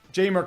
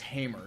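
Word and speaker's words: Jeimer: traded for Haymarket um jamer Candelaria it's jamer jamer jamer I always keep saying it's Hamer you know like the J is pronounced as an H as it usually is in Spanish I'm weird like that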